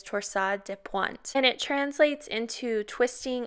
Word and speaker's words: torsades de pointes: this one the proper pronunciation of torsades it is actually of french origin so it is torsa de pointe and it translates into